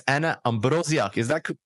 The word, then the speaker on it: Ambroziak: special guest it's Anna Ambrosia is that pronounced correctly first of all yeah that's correct I'm polish so it's my surname it's not easy you know especially after